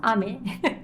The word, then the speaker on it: Aimer: I like Aimer. You guys know Aimer? She's a Japanese singer. Actually, her name is pronounced Ame.